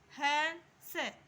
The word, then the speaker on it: हंस: ठीक है मैं हंस है से इसके ऊपर बिंदु लग रही है तो इसका उच्चारण करेंगे हंस कि अ ठीक है